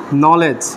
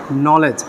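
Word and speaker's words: knowledge: বুঝতে পারছো কি তাহলে শব্দের শুরুতে কে এন থাকলে তার উচ্চারণ হবে দন্তন ন এর মতো তাহলে দেখতো পরের উচ্চারণটা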